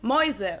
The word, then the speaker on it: Mäuse: umlaut is also used in this diphthong, where the letter combination is pronounced as oi, the same Oi. as EU in German, as in Mäuse, which means mice, Mäuse.